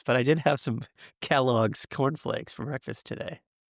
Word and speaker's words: Kellogg's: yesterday and discuss them over a bowl of Kelligs cornflakes and Winston cigarettes.